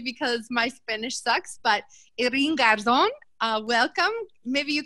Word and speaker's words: Irene: my friend uh thank you very much agustin irene that's how you pronounce my name but i tend to answer